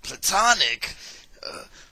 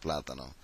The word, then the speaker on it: plátano: He was like, Platonic, Platono, like he didn't know, had any idea how to say it. You know, it's kind of a Spanish word, Platano, and in English it's plantain.